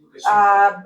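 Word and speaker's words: Лукашенко: So you pronounce it Lukashenko.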